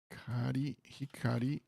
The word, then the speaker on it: 光: Okay, the reading of this is hikari, right? 光 Hikari, good.